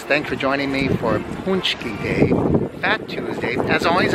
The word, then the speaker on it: paczki: That is a good paczki. That's how you say it. Paczki.